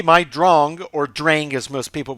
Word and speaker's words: Drang: So right here, the Drong, most people would say Drang, but that is actually a German word taken from a piece of classical music.